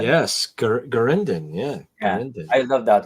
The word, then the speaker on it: Garindan: Is that how you pronounce that? Garindan? Yes, Garindan.